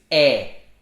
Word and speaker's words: é: means and and another word completely unrelated is e is so for example is this your daughter's